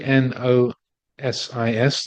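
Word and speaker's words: gnosis: nana so nosis G n o s i s you don't pronounce the G so it's pronounced nosis and the beginning is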